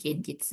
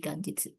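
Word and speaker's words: 元日: Nah, tapi kalau dia ketemu sama kanjinichi, dia bukan dibaca genjitsu, tapi jadi ganjit. N G ini lumayan nih sering kadang-kadang muncul di JLPT ya ganitsu atau hari baru. Jadi karena dia dibaca gengki bukan berarti dia jadi genjitsu ya, tapi jadi ganjitsu.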